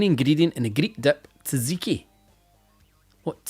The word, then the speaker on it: tzatziki: Tzatziki. The T is silent. What T? There's fucking 2 of them. Tzatziki.